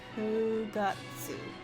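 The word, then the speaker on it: 九月: So here it says it's pronounced as Kugatsu. Kugatsu.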